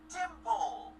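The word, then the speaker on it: Tympole: Drillbur, Conkeldurr, Timpole. Oh, that's how you pronounce it.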